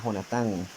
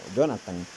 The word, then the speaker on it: Jonatán: su mejor amigo ya jonatán conocido como como Jonathan pero el Jonathan la verdadera pronunciación él va a perdonar